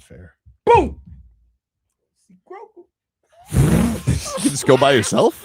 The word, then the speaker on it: Grogu: We have Gargu, I think that's how you say it, and the Mandalorian. Grogu? Grogu.